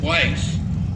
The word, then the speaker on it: Weiss: Some people that spell his last name pronounce it Weiss, but he likes it Weiss.